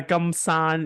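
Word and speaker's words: 金山: yeah yeah gold Mountain I gumsum is am I saying it right yeah guman yes guman okay yeah that's a canese war for gold Mountain yes okay okay yeah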